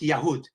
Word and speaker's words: Yehud: can see in Arabic it's pronounced yahud stems from Judah you